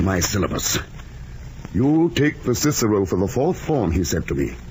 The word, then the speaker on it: Cicero: nonsense in my opinion making boys say clicko at school when for the rest of their lives they'll say Cicero if they ever say it all and and